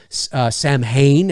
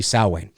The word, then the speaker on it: Samhain: might not know i know donald pleasant says samhain and we've come to know it as samhain the correct the correct pronunciation is actually sowway uh was the birthplace of the sowein festival